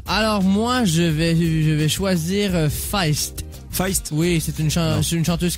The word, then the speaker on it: Feist: Ah, vous dites Feist? Ça s'écrit comment? Ça dépend. F-E-I-S-T. Non, tu peux dire Feist, non? C'est Feist.